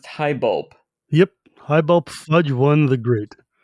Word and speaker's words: Highbulp: Chapter 19 is the Broken City, and I believe it's pronounced Highbulp.